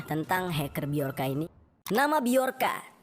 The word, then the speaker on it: Bjorka: hacker beolka ini nama beorka tulisannya bcorka ya seperti tulisan nama anaknya Agus Ringgo yang dimana Kalau dibacanya Bukan jorka tapi dia ini adalah seorang